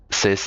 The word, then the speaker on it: cis: trans is called cis which is spelled c i s which also a lot of people get angry at. uh for just be called sis.